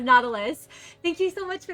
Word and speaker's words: Nautilus: Oh, Natalius, thank you for the hydrate. Thank you. Or Nautilus? Nautilus. It's pronounced Nautilus.